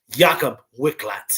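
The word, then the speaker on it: Jakub Wikłacz: Let me pronounce his name right since we're betting on him. Jakob Wicklax here, plus 110 in this one.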